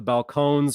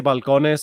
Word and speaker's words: Balcones: talking about here with the Balcones or Balcones however you pronounce it I like to say balconis because I like to transliterate stuff because I speak Spanish but balconis kind